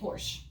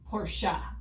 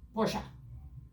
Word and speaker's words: Porsche: How do they say it in Germany? Porsche.